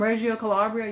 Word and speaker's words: Reggio Calabria: that's funny yeah and you were born in Razia Calabria am I pronouncing it right Susan says yeah and Mary was born literally across the ocean from you you know from Reggio Calabria you could see her Village yeah yeah that